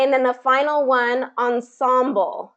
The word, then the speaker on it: ensemble: it's so with the with the american english pronunciation it really would become ensemble in symbol but um but it has still taken on a little bit more of the french pronunciation it hasn't fully adapted